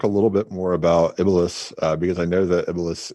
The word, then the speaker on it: Iblis: Iblis. No, I'm not getting you. Iblis. I believe in Catholicism it's the Antichrist, but in Muslim tradition it's the actual. Iblis. I'm sorry. You're giving him an extra syllable.